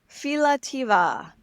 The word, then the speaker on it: Philautia: Philautia. Did I say right? Yes, you did, and it's right Philautia.